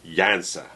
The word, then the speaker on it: Janssen: to Jansen it's Funka Jansa Jansa the N is supposed to be silent But usually when I'm